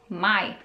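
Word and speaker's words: maj: ics my my so a here is pronounced as a same as in filipino alphabet ah so my may june june so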